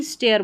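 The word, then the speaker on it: stare: घूर कर देखना उसको भी स्टेयर बोलते हैं।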